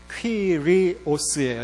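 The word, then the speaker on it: κύριος: 주님이란 큐리오스라는 말과 에피스타타. 이 에피스타타에 대해서는 지난주에 말씀을 드렸어요. 이거는 영어에서 큐리오스라는 말은 보통 주님 하는 큐리오스라는 말은 이건 그냥 영어식으로 그대로 읽으면 돼요. U는 위 발음이 나요. 위. 퀴리오스예요.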